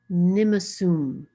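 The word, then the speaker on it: nimosôm: Okay, so then grandfather, my grandfather is pronounced Nimasum.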